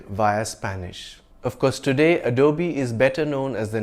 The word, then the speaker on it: Adobe: a luxury sports car by Lamborghini you can pronounce it any way you please it's not Adobe but Adobe the English word Adobe refers to a brick